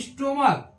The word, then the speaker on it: stomach: ये स्टोमक, STOMACH, स्टोमक, इसको पढ़ते हैं, H यहाँ भी क्या हो रहा है? साइलेंट हो जा रहा है।